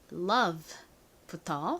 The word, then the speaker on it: love: 단어들이죠 자 사랑이라는 의미의 love부터 써볼게요 l o V e입니다 여기서 어우가 소리가 나는 것이 아니라 단모음으로 소리가 난다라고 설명드렸었죠 자 같이 적어 볼게요 리을